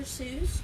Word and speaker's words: Seuss: soon I would love to call dr. Seuss for not dr. soy's that sounds weird right it didn't even look like that but people just kept saying it wrong hey Lindsay alright so